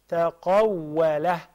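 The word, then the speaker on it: تقوّله: تقوله There is a fatha on top of the lamb. Not Dhamma.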